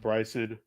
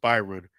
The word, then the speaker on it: Byron: So, props to William Bryson. I mean, I'm sorry, William Byron. I beg your pardon. William Byron. I shouldn't mispronounce his last name because the same as my son as well.